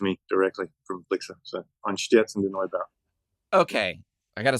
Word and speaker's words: Einstürzende: And then to watch him break it down, I had to put it phonetically up here so I could do it. But it's EINSTÜRZENDE Neubauten.